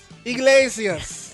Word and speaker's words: Iglesias: All right, and the only other person that has some significance is Enrique Iglesias. Iglesias.